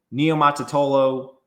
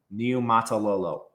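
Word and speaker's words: Niumatalolo: As far as San Jose State goes, Ken Neotolo, I always get his name wrong. Neatalo. Neo Matalo. Just need to say it slow.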